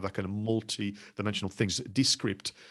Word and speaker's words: Descript: kind of multi-dimensional things, Descript or Descript, if you want to pronounce it the French way, is actually quite an interesting platform.